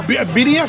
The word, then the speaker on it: birria: Is it birria style? How do you pronounce it?